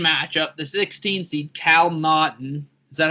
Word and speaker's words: Naughton: The 116 matchup, the 16 seed Cal Naughton. Is that how you pronounce his last name?